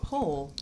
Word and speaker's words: Pohl: have another guest how do you say your last name po pole p o h l though right yes yeah uh and we